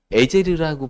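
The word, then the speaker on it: עֵזֶר: 에셀이라는 뜻은 이제 발음하는 거에 따라 한국식 발음으로 에제르라고 발음하기도 하고 에셀이라고 발음하기도 하고 그런데 그게 구원, 도움이라는 뜻입니다.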